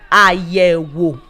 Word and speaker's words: àyẹ̀wò: The third one is àyẹ̀wò. That's a long one, right? Okay. Àyẹ̀wò. We have 3 syllables. The word is 3 syllables.